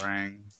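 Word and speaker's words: Hwoarang: Major Bison versus Hurang. Who? Hurang from Tekken. Oh, Bison. Bison. Huarang, but Wait a minute. Of course. But It's pronounced wait, you're talking about Huarang.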